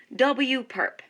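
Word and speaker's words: W⊥: w raised to that perpendicular symbol which we pronounce as w perp now in set notation we say that w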